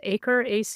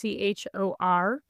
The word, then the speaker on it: Achor: The author is Sean, I think it's pronounced Achor, Achor.